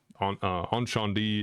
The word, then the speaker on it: Incendies: Encendies, it's spelled Incendies.